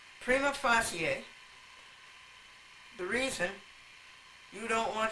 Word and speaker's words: prima facie: here are the agenda prima facie and by the way that's the way you pronounce it it's a Latin word and you pronounce it that way the Romans pronounce all syllables prima facie the reason you don't